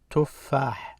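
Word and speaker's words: تفاح: This u is the short vowel, tells me to pronounce it as tu. So it's not ta or t, it's tu. Tuffah.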